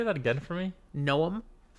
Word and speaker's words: Noam: Like Noah, Really? but with an M Two instead of an syllables? H. It could be gnome, but it's more I always Noam. read it as gnome. It's more Noam.